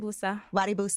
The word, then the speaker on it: Wusa: put out most recently I don't want to say it wrong WUSA yes okay good I just want to